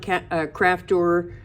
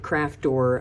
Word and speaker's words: Crafter: So I made this out of the Bond Crafter casting powder. Sorry, I had a brain cramp there because I pronounced it Craftor again.